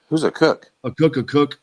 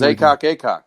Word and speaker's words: Acock: A Cook. Oh, it was Acock. No, it's a Cook. Oh, well, it's spelled Acock. My bad. I've been pronouncing it wrong.